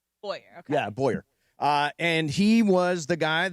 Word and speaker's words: Bowyer: Yeah, Matthew Boner. Yep. Boyner? I need to Bauer, ask how maybe? How do you spell it? Boywer. Bowyer. Bowyer, okay. Yeah, Bowyer.